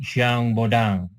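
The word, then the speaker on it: Jean Bodin: menurut siang Bonang ya ditulisnya gean Bodin tapi karena ini orang Perancis maka dibacanya siang bodang ya ada empat ya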